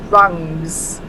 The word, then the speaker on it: Grung: I'm going with the grungs. The grungs. It sounds like grunge, but I don't want it to be grunge like grunge music. You know what I mean?